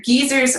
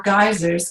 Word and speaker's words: geysers: evening now pardon me you pronounce this word two ways depending on where you are in the world either geezers or geysers erupting volcanoes erupting I